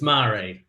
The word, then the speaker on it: Mare: pronounce it properly absolutely it's mari it's mari i'm from holland but uh somewhere a long long time ago with french somewhere along the line i see yes because